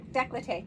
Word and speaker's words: décolleté: And I look forward to my facial and décolleté. Did I say it right? Décolleté, yes. Décolleté. Oh, there we go. I said it right.